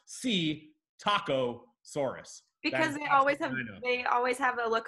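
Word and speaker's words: Psittacosaurus: gotta get three of these to win if see taco Soros that's a dino that is a dino it is spelled psi T T Soros but it's pronounced C taco Soros because always have a look on their face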